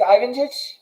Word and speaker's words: Lvancic: I hope I haven't butchered your last name too badly. It's Lvancic?